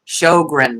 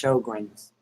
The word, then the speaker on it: Sjögren's: dry eyes, then is it Sjögren's or Sjögren's. Yeah. S J O G R E N S, Sjögren's.